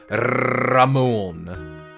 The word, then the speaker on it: Ramon: It needs to be pronounced Ramon.